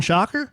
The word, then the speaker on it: Schockerer: Susan Shocker? Yeah, Susan Schockerer, but they pronounce it Shocker.